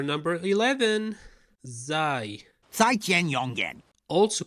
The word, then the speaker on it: زاي: Zai. 再见永远 Also called Zain, but the right way to call it is Zai, pronounced like the letter Z, which is also called Z.